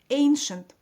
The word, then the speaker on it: ancient: Ancient.